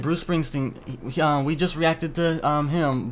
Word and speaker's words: Springsteen: Springsteen? Yeah, you're saying it right. Bruce Springsteen.